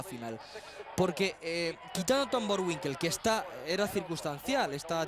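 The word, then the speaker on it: Boerwinkel: Bueno, Winkel, sí, está bien pronunciado. Borwinkel, que decían allí Bor Winkel.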